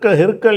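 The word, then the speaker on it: هرقل: இருந்தால் அதுக்கு சட்டம் இருக்காது அந்த ஹிர்க்கல் என்பதை வந்து அதிகமான நூல்கள்ல வந்து ஹிர்க்குள் என்று அந்த ரேக்கு சுகூன் கொடுத்து காஃபுக்கு பத்தகு போட்டிருப்பாங்க இந்த இடத்துல ஹிரக்லன்னு வந்திருக்கு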